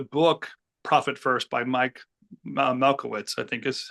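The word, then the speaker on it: Michalowicz: it in the book Profit First by Mike Malowitz, I think is how to say it, right? It's a Yeah, Mallowitz.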